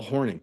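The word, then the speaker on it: Hornung: horn yes it is but it spell it's pronounced Paul horning you should know this he's one of the greatest players in NFL history yeah but it's a un G so I'm just going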